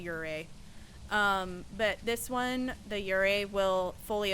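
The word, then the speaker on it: Yurei: A lot of streamers pronounce it yuri. It's a ure.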